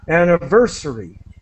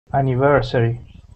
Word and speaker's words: anniversary: with digital digital yeah and the accent is this this syllable I think is the best way to describe so anniversary anniversary yeah anniversary anniversary okay